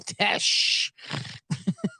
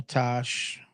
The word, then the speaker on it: Tesh: fun it's so funny I said Peter Tosh say Daniel Tosh it is Tesh John Tesh whatever [ __